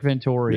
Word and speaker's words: Venturi: was coached in the internet was it rick Venturi Yes vittori Rick Venturi it was not that was not a great